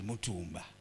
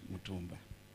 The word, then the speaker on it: Mutumba: But it's an opportunity to re-emphasize, at least when we are home, the name should be pronounced correctly. It is Mutumba, not Mutumba.